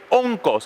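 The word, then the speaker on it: ὄγκος: Esa palabra peso en el griego se escribe onkos. ¿Y sabe lo que significa? Onkos con K. Onco, así como suena, O-N-K-O-S.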